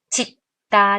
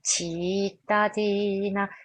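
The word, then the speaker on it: cittadina: " 지타 " 가 아니라 " 치타디나 " 입니다 . 반드시 " 치타 " 라고 발음 해야 합니다 .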